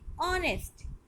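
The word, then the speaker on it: honest: ऐसे second word में आते हैं ऑनेस्ट। अ, देखिए फोनिक साउंड है अ, एच इसमें साइलेंट होता है, ऑनेस्ट, इसलिए इसके वर्ड से पहले एन, ऑनेस्ट।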